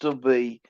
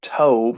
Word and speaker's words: Tob: to the land of tobe and i'm pronouncing this tome as in rhymes with job but spelled the same